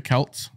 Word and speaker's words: Celts: Halloween so the Celts so that's how you pronounce it the Celts yeah go ahead okay people also believe they